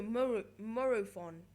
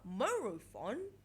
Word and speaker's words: Morophon: Also, Morophon. And you're going, wait, what? Morophon?